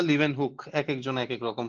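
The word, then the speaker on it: Leeuwenhoek: নাম তুমি বললে তার নাম হচ্ছে লিভেন বা লিভেন হুক একেকজন একেক রকম প্রোনাউন্স করে লিভেন হুক তাহলে লিভেন হুক কিন্তু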